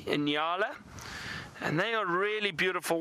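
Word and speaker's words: nyala: those are called enala very funny name it's spelled n y a l a enala and they are really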